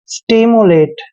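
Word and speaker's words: stimulate: दोस्तों एस का उच्चारण स करते हैं, टी को टे पढ़ते हैं और आई को ई की मात्रा पढ़ेंगे। एम का उच्चारण आधा मैं करेंगे, यू को यू पढ़ना है और एल का उच्चारण ले करेंगे। ए को ए की मात्रा पढ़ते हैं, टी ई का उच्चारण टे करेंगे। स्टिमुलेट।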